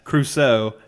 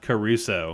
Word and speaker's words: Crusoe: That's Crusoe, not Caruso.